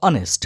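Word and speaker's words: honest: কারণটা কি, দেখো অনেস্ট যদিও এইচ অর্থাৎ কনসোনেন্ট দিয়ে শুরু, তবুও এদের উচ্চারণটা দেখো অনেস্ট, মানে ভাওয়েল দিয়ে অ্যাকচুয়ালি প্রোনাউন্সিয়েশনটা ভাওয়েল দিয়ে শুরু হচ্ছে দেখো অনেস্ট, তাই এখানে আমরা অ্যান বসাচ্ছি।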